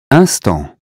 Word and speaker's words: instant: That consonant tells us not to say in or im, but un. Here's how to say them correctly. Repeat them after me. Imbécile, inclination, information, injuste, important, instant, intact.